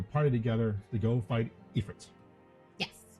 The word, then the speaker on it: Ifrit: Nope, because you had to put a party together to go fight Ifrit. Yes. Or Ifrit, depending on who you talk to.